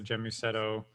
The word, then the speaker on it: Gēmusetto: guess getting back to gemusetto death did I say right first it's a it's a hard G it's guset g g